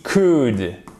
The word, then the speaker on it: could: Vous avez aussi could. On ne prononce pas le L.